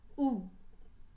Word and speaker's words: août: dans le mois d'où au québec on dit ou dans d'autres pays francophones comme la france ont 10 août à eau une accent circonflexe t il y a quatre lettres dans le mois d'août où dans le mot où il y a deux lettres muettes le a et le thé les lettres aux é-u